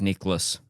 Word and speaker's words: Nicklaus: Jack Nicklaus.